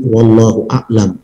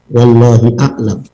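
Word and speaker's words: والله أعلم: Yang terakhir ini bacanya tadi, wallahu a'lam ya, bukan wallahi a'lam. Kalau wallahu a'lam itu tawaduk, kalau wallahi a'lam itu sombong.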